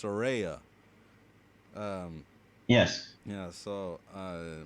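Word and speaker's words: Saraya: to correct myself it's she actually says it's pronounced Soraya um yes yeah so uh my my mistake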